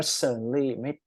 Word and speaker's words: certainly: Okay, so the relationship among neighbors had certainly ตัวนี้อ่านว่า certainly ไม่อ่านเสียงตัว t certainly มันจะยากนิดหนึ่งนะฮะ certainly นั่นแหละแต่ว่าพอเราอ่านปุ๊บตัดตัว t ทิ้ง certainly changed mostly for